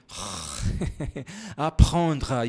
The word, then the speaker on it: apprendre: A única diferença é que no português nós não temos esse R. Apprendre. E aí eu não posso colocar isso na transcrição fonética. Você tem que saber que o R é dessa maneira que nós pronunciamos.